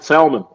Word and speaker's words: salmon: We call it salmon. Maybe it is salmon. I don't know, but it is salmon. It's salmon. It is salmon. But it's like kindergarten. It's kindergarten. And the L is silent, Mr.